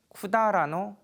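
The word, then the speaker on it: 百済: 고려 왕 씨입니다 어 백제 왕씨는 이제 일본어로 읽으면 쿠다라 코니시키 우지라고 읽습니다 어 백제를 일본어로 쿠다라 하는데요 저도 처음에 그 일본어를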